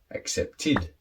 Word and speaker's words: accepted: So verbs that finish with a D or a T sound that are regular with the ED, you then pronounce id. Wait, waited. Need, needed. Accept, accepted.